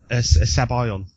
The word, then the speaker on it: Sabayon: Sabayan. Sabayan, as in by.